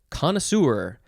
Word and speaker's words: connoisseur: with this word okay next is connoisseur or just connoisseur connoisseur connoisseur it is a french word so it is spelled